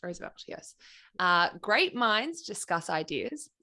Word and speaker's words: Roosevelt: Is it pronounced Roosevelt?